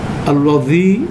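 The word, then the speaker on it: الذي: পাশাপাশি এটার উচ্চারণটা আমাদের চেষ্টা করতে হবে আল্লাহ শব্দের মধ্যে লামটা মোটা, আল্লাযী এখানে দালটা মাথা দিয়ে উচ্চারণ হয়, সেই ডিস্টিংশনটা আমাদের করার চেষ্টা করতে হবে, নাহলে 2টা কনফিউজড হয়ে যাবে।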